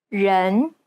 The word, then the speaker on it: 人: The Chinese E sounds more like an ugh sound. 人 It's identical to the E sound at the end of the word problem.